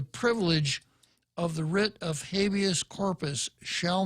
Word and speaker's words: habeas corpus: it means it's actually if you were a Latin scholar you'd pronounce it habeas corpus corpus but of course one of the first things you learned in law school is how to mispronounce all the Latin terms so abeyance corpus means